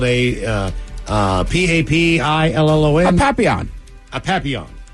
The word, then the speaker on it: Papillon: little French dog is called a uh uh p-a-p-i-l-l-o-n Papillon a Papillon correct Papillon designed for French